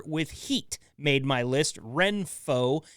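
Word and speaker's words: Renpho: heat made my list Reno is spelled re n p h uh this eye massager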